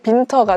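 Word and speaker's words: Winter: 솔직히 윈터는 항상 30년 동안 윈터였잖아요, 저한테. 근데 어느 순간 그냥 갑자기 빈터가 된 거예요.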